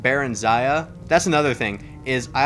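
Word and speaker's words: Barenziah: a book series um called the life of berensia or as it's properly pronounced baron zaya that's another thing is i always called her bear and zaya no i always called her barenzia until skyrim and i actually heard her name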